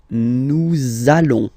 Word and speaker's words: nous allons: it does mean that you will have to pronounce this z sound, okay? Listen to me. Nous allons.